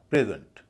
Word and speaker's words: present: प्रेजेंट, पहले पर stress है, दूसरे पर नहीं है।